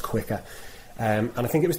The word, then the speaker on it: Quiqr: So it's Quiqr, so with a QR in the title. I think it's pronounced Quicker.